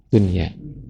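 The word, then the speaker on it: دنيا: Kata dunya juga dunya ketemu ya. Harusnya idgham tapi harus dibacanya jelas ya. Biasanya idgam tapi di sini ternyata tidak boleh idgham. Harus izhar dunia.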